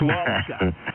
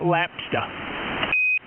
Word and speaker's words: lobster: It's lobster. Lobster, not lapster.